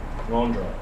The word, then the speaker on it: ngondro: But if you want to say it right, say ngondro, where ngon means before and dro means going.